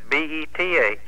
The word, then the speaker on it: Beth: for me she says b-e-t-h he said well that's beth she said now mom and paul always call me bath and it's bath he said well you